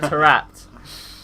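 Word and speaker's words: Taarabt: To Neil, you've got to say Tarabat, because he still, to this day, I don't think knows how to say his name. Tarabat. Tarapt, Neil, right? It's Adel Tarapt.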